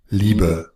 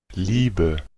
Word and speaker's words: Liebe: Entonces, una vez sabiendo eso, se nos hace fácil ver que el diptongo IE, en este caso del idioma Deutsch, lo vamos a pronunciar como una I.